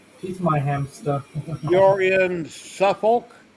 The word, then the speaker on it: Suffolk: You're in Suffolk. How do you pronounce that, Matt? Suffolk.